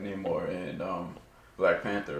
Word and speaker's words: Namor: And you know, Namor, am I pronouncing that right? Namor.